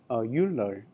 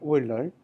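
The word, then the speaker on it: Euler: Uh many um I you know pronounce this name you know the oiler uler right especially like you know if if you are Americans okay but you know the oil oiler uh that's a that that's close to uh the correct pronunciation, right?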